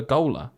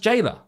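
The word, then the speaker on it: gaoler: Gooler and I was like oh what a Gooler this must be something to do with prisons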